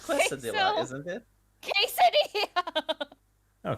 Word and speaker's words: quesadilla: It's quesadilla, Queso. isn't it? Quesadilla. Oh, quesadilla. It says right there. Quesadilla. No, I think she's right. I think like this. I think it may be K.